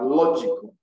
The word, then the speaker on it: logical: syllable the ceased rule if you have words ending in c y p h y g y and a l you place the stress on this little salt from the end at least from the end you can three syllables backwards from the end you count one two three backward that third syllable from the end is what is stress so we have